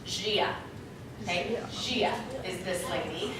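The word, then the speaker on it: Gaia: rainbow poster her name is spelled funny it's pronounced Gia okay Shia is this lady anyone know who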